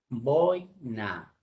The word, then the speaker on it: boina: Por ejemplo, aula, boina. Boina es la palabra, no es boina, es boina. Se escribe sin tilde. Decir boina es un barbarismo, porque también he escuchado decir a varias personas boina.